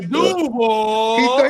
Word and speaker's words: Duval: Do you remember when Liam Combs got hired by the Duval? He said no. He said Duval. Oh, he put the accent on the wrong part.